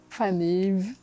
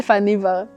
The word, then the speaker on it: Faneva: ou des bijoux malgaches, la prononciation de mon prénom, Fanev. Tu vois, par exemple, ça c'est difficile de dire aux gens comment se prononce mon prénom parce que même moi, j'ai pris l'habitude de me présenter en disant « Je m'appelle Faneva ».